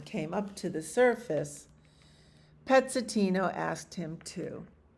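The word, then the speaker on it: Pezzettino: Pezzetino in Italian means little piece. It is pronounced Pezzetino.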